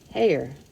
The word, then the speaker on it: Hare: Okay, it says he pronounced it as so as to rhyme with mayor. Hare.